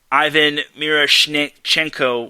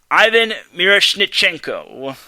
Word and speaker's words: Ivan Miroshnichenko: Mike says me pronouncing Ivan Miroshnichenko was pretty good. I appreciate that, Mike. I'm glad I made you proud. Remember, his name is Ivan Miroshnichenko. Ivan Miroshnichenko.